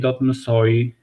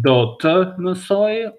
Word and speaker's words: do të: Ti dot mësosh, ai dot mësoj, ne dot mësojmë, ju dot mësoni, ata dot mësojnë. You can either pronounce it as do të mësoj or mësoj without pronouncing this here.